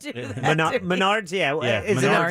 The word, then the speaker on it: Menards: subsequently suspended die indefinitely wow from the arca menards series come on now bye-bye hold on now